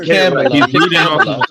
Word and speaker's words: Kamala: It's Kamala. He's reading off of the script. No. So literally, she said Kamala with a camel. Kamala. Say it correctly, okay?